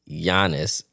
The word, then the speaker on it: Giannis: You don't pronounce it. It's Giannis Antetokounmpo.